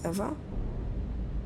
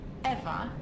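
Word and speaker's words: Ewa: don't mind did you say your name was eva yes that's right so you have the same name as the thing could you please not compare me to a lifeless machine besides eva is spelled e w a not e v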